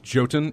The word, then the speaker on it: Jotun: Here's music from, and I'm going to mispronounce this probably, Jotun. That's Jotun. I'm going to go with sure. I don't know what you're talking about. It's Jotun, and the track is called Jotun.